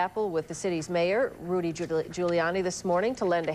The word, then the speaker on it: Giuliani: jackson mispronounced his name he referred to him as mayor giuliano instead of giuliani e oh whatever